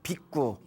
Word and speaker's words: 비구: 근데 머리를 깎고 출가하신 스님을 우리가 비구라고 부릅니다. 뭐라고 부른다? 비구라고 불러요. 저쪽 이제 원래 발음은 빅구라고 한다고 합니다. 빅구.